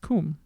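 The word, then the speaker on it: cwm: a different uh alphabet no pronounced comb we've done this i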